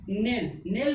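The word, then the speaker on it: knell: ठीक, के इसमें क्या साइलेंट होगा के, क्योंकि के के बाद क्या आया N आया और N के बाद क्या आ गया वॉवेल्स आ गया E, तो के हो गया साइलेंट। क्या हो जाएगा NELL नेल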